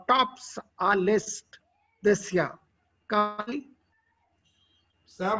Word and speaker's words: Kali: Kali? Sam, her pronunciation is Kali. Sorry. Is Kali. Kali means the bud of the flower.